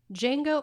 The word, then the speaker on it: Django: and glorious bastards chewy Jango Unchained the D is silent the D is silent